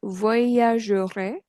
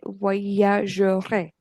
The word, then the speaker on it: voyagerai: Okay, many students skip that R. Okay, it's not voyager. Okay, voyagerai.